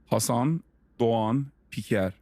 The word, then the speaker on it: Hasan Doğan Piker: Hasan Doğan Piker.